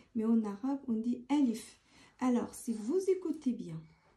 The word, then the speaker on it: alif: En français, on dit A, c'est tout. En arabe, alif.